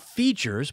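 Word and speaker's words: Feetures: But first, let me tell you about Features. Boy, I do love me some Feature socks. So Features, and that's spelled F-E-E-T, like feet, F-E-E-T-U-R-E-S.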